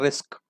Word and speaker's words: RISC: इसको प्रोनाउंस करते हैं रिस्क.